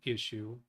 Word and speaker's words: ECU: And therein lies a clue as to what I think the solution is for his ECU. I know most people pronounce it issue.